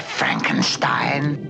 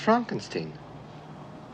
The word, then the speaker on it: Frankenstein: dr frankenstein frankenstein you're putting me on no it's pronounced frankenstein do you also say frodrick no frederick well